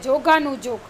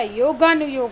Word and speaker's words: योगानुयोग: हम ऐसे बोलते हैं जोगानुजोग, लेकिन जोगानुजोग नहीं होता, योगानुयोग होता है।